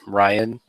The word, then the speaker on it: Ryen: And I really fucking hate his name, Ryan, because it's spelled Ryen.